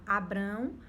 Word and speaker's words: Abrão: sobre isso, só que o nome dele antes era Abrão, se pronunciava Abrão e depois Deus ele altera para Abraão, certo?